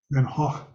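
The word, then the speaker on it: Van Gogh: that's what happened to Van go and that his paintings are communicating that VIN go van Haw as my history of art teacher used to pronounce it yeah so this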